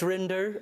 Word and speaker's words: Rinder: Judge Rinder, I like you rhyme with Tinder, that sort of thing.